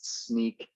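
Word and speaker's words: Snyk: has nick or sneak i've finally heard the canonical way of pronunciating this is sneak just in case you guys were wondering i've seen stockholk a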